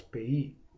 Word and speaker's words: PAYE: Under direct taxes, we have direct taxes are also referred to as payee, and that is spelled P-A-Y-E, which is an acronym which means pay as you earn.